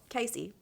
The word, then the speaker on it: Kacy: time I thought you didn't realize spelling my name wrong this whole time yeah my name is ka CJ you know Casey yeah yeah obviously so yeah I just like